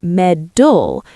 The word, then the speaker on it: metal: Because if a student learns the word metal, M E T A L in a British classroom, they expect met, then they go to America or they watch a Hollywood movie and they hear medul and they think medul like a gold medal.